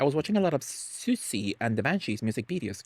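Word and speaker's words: Siouxsie: Do you pronounce that as Susi? So me dumb ass me thought I'm like it can be Sioxy right it can be Sy and the Banshees right but no it took me years to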